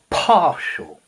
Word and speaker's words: partial: Partial. Partial. Notice the t I pronounce partial.